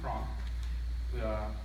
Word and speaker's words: Cronk: Now, and the next article I'd like to cover, it's written by Diamond Cronk. I put emphasis on that because last time I pronounced it crank, and I was a little embarrassed about it.